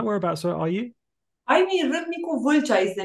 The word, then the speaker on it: Râmnicu Vâlcea: I mean, Râmnicu Vâlcea is the name of my hometown.